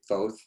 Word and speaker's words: Thoth: studied the way of, he's been pronounced different ways, but I'll say Thoth. He's also been pronounced Thoth, and we're quite sure how to get his name right, but he is one